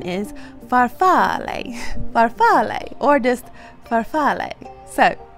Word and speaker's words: farfalle: italian did not know that and the italian pronunciation is farfalle farfalle or just farfalle so there you go